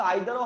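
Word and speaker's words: either: উচ্চারণ কিন্তু আইদারও হয় ইদারও হয়, দুটোই কারেক্ট।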